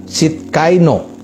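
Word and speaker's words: Tsidkenu: Yang keenam, Yehova Sidkaino, ya, tulisannya TSIDKAINO2, ya, jadi bacanya Sidkaino.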